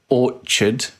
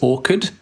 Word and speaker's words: orchard: half my life Rebecca I kept mispronouncing Orchard as Orchid I thought that I always read it I just always read it as a hard CH like you get sometimes